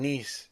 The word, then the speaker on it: Nice: He plays in Nice. That's how you pronounce it.